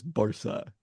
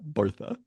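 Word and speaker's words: Barça: No, it is not a th in Catalan. It is in Castilian, but there's a reason their nickname is Barca and not Bartha.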